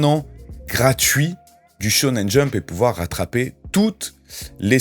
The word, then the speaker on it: Shonen Jump: les commentaires, on dit pas Shonen Jump, on dit Shonen Jump, pardon. Des fois, voilà, il y a des mots que je dis comme ça, sans réfléchir, et que je dis pas la bonne prononciation.